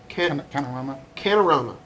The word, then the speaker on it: Canorama: can't i pronounce this canorama like panorama el canorama if they